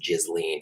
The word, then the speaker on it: Ghislaine: Well, I obviously just did a video because they finally said they're probing Ghislaine Maxwell, or it's pronounced Ghislaine.